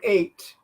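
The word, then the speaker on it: eight: Then I have to show them that the number 8, that the GH, you don't pronounce at all.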